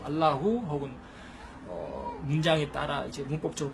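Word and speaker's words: اللهُ: 알라훈이 아니고 알라후 혹은 문장에 따라 이제 문법적으로 바뀌면 알라하, 알라히 이렇게 바뀌기도 하는데 알라후.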